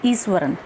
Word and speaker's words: Iswaran: Please remember word ईश्वरन नहीं है, एस के बाद एच नहीं है, तो we will pronounce it एज ईश्वरन।